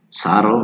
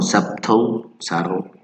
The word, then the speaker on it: subtle: So here's the sound, the pronunciation in parentheses, subtle, no, subtle, okay, the silent E in evening, so we have the evening, no, evening, like many people say.